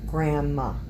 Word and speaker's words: grandma: Don't pronounce the D. Grandma.